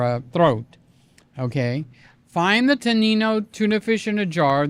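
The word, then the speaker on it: Tonnino: I think it's tan with a t o n i n o. Tanino. Tanino. I knew I was saying it wrong.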